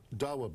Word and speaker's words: Dawa: Speaking of Ambassador Bremer, the LA Times says today that they say that a member of the, is it Dawa? Is that how that's pronounced?